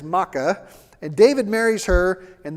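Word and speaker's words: Maacah: gisher and her act her name is MAA it's spelled the exact same as the maites it's ma a c ah which is really confusing so the the princess of gisher is Maka and David marries her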